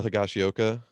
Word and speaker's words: Higashioka: fully get it and if you know kyle higashioka which i think i'm pronouncing that correct yeah you got it cool